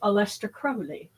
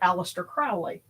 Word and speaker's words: Aleister Crowley: as I understand it, the British pronunciation of his name is Aleister Crowley. But we Americans say it Aleister Crowley.